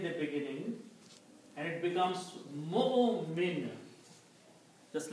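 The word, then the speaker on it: مؤمن: We do not pronounce waw. It's just for writing purpose. For helping for Hamza to sit on something. Okay? So you still pronounce mu'min or mu'minun.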